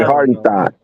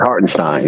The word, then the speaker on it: Hartenstein: I was like, yeah, I mispronounced his name. It's Hartenstein, yeah.